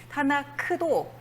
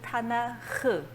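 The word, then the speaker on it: תנ״ך: 타나크도 사실은 타나흐, 이런 식으로 발음하시면 되겠습니다.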